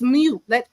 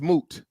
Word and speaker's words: moot: It's not mute. It's moot. It's MOOT. You're right. Okay, I said it wrong. Okay, say it one more time for me. Then secondly, moot. Okay. Moot. Yes. MOOT, right? Yes, MOOT, not MUTE.